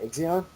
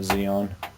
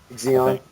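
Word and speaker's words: Xeon: GHz Intel xon that how do you say that Exon yeah sorry S I say it again not neon Zeon Zeon okay turbo boost Dynamic performance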